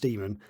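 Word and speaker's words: daemon: over time um but it's technically it's meant to be pronounced demon unless there's actually some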